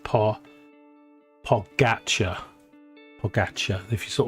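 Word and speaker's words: Pogačar: But, it's um, pronounced Pogacar.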